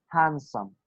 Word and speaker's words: handsome: Like handsome, we do not say handsome, we say handsome, handsome. You do not Hands. pronounce the.